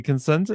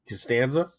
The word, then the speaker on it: Costanza: The Cosenza is that his like from the Seinfeld? The Cosenza wallet. I'm saying it wrong, but Well, it's all thick, I don't remember it, but right? Costanza.